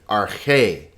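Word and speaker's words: ἀρχή: it's not pronounced in the next word is arche notice there are two vowels so there are two syllables are k in rk the accent is over this syllable so it's our k not rk but arche in arche ain notice one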